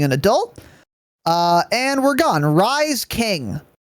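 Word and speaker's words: Rhys: Rise King. How do you pronounce this first word in this name, Tanner? Rise.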